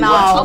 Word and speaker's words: Nawf: You gotta say it right. The Nawf. I haven't been practicing. Come on, you gotta practice. We gotta get this in. The Nawf. Open the mouth.